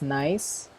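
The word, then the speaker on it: gneiss: a sedimentary rock okay next nice so we pronounce this as nice so nice as an example of a metamorphic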